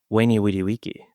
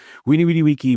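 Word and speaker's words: veni vidi vici: And I'm going to say weny witty wiki. You even did the Latin V's with the W pronunciation. Yes. Winny witty wiki, which uh of course translates to I came, I saw, I stuffed the crust.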